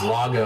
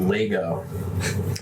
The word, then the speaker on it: Lago: My middle name is Lago, and they pronounced it Lego.